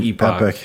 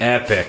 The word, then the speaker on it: epoch: called an epic or an epoch epic that is right it feels so good